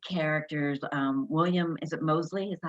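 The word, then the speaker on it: Moseley: uh your lead characters um william is it mosley is that how you say it correct william mosley and joanna brady correct great okay they're adorable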